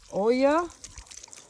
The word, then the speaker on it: olla: My little, some people call it an Ola pot because it's spelled O-L-L-A, but I'm pretty sure that's supposed to be Olla. The double L in Spanish is a Y sound, so that would be an Olla pot.